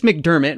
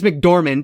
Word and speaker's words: McDormand: It has Frances McDermott, right? That's how you say her name? Frances McDormand, excuse me, who's from Fargo, and it's directed by Sam Raimi with music by Danny Elfman.